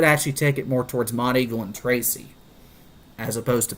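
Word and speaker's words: Monteagle: I24 and potentially down the road could impact Mod Eagle and the south side of Pelum.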